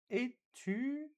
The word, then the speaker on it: étudiant: Étudiant. I don't pronounce the last T, right?